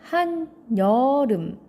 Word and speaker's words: 한여름: 자, 한여름 발음하면 한여름.